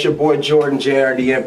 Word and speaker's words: JRDN: it's your boy jordan jrdm pronounced jordan we're here chillin at